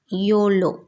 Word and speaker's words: YOLO: last night ninth one YOLO that means you only live once it's pronounced like a word yolo okay and is used